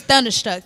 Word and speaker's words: Tdunda Struck: But anyways, it's Thunderstruck. TDUNDASTRUCK. Thunderstruck. Hold on. And Why Spell it one more time.